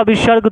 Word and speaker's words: विसर्ग: एक में आपका विसर्ग, दूगो विसर्ग है, एक में नहीं, इसको विसर्ग बोलते हैं और इसका उच्चारण ह होता है, अस्थ।